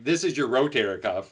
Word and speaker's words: rotator cuff: general public as a rotator cuff tear and mispronounced right rotator cuff you know ro that's right you have ro you have rotary cuffs up where you live I thought that was